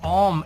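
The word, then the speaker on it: ॐ: O mantra também é composto de 3 sílabas, tá? Seria a sílaba A, sílaba U e a nasalização, que não chega a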